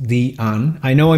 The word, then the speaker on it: Diane: And yes, it is pronounced Diane.